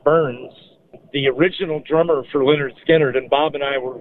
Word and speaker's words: Lynyrd Skynyrd: He played brilliantly on the first album, pronounced Lynyrd Skynyrd.